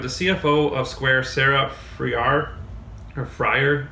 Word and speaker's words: Friar: CFO of Square, Sarah Friar, or Fryer. So I think it's pronounced Fryer.